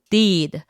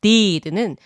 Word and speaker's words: deed: 그래서 첫 번째 단어는 행함, deed, D-E-E-D입니다. 하다의 뜻을 가진 do의 과거형 did와 발음이 비슷하네요. 그건 D-I-D잖아요. 네, 맞습니다. 약간의 발음 차이가 있는데요. 행함, deed는 이 발음을 길고 입을 양옆으로 째주셔야 돼요.